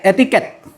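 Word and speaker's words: etiquette: Etiqute ee tak enggak tahu bacaannya apa. Etiket. Etiket bacanya etiket. Etika.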